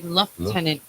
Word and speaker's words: lieutenant: say it now but it's like Lieutenant and L tenant and they say it in different um dialects like the um UK and yeah the French is say love tenant and there's no f in it but it's over here we say l tenant yes but I like